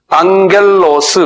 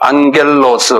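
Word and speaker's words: ἄγγελος: 안겔로스 그래요. 안겔로스 한번 발음해 보세요.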